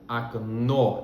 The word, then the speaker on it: окно: Por isso, o primeiro O, que não é tônico, tem o som de A.